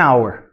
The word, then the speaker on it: hour: Então, olha só, o hour tem um H lá, mas esse H, ele é uma silent letter. A gente não pronuncia. Então, a gente começa com o som de A. E A é um som de vogal, por isso que a gente fala an hour.